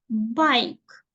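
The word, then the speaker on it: bike: бійки хто прочитав бікіні оце не читається Зате Ось ця читається а і дивимося перша б да б дивиться на вашу руку б ай бай байк байк і давайте ще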